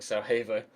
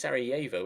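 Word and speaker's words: Sarajevo: We are going to play, of course, we're playing Sarah Havo. Wait, S. Is it Sievo or Sarah Havo? I think it's Sieo, isn't it? I think the J is pronounced like a Y.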